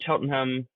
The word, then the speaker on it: Cheltenham: I put, no, that's you're really pronouncing way too many letters. Cheltenham. You just say, you, yeah, you say as few as possible.